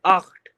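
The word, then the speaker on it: acht: ये हो जाएगा आख्ट, आख्ट। सी एच है दोस्तों यहाँ पर दोस्तों सी एच है, और सी एच से पहले कोई बावल आए तो वो खा का साउंड करता है।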